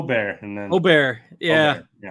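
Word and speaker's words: Åberg: lot of airtime and Aber Berg is the English pronunciation to me so o isly correct model Maniac on Twitter um just had like o bear like 10 times in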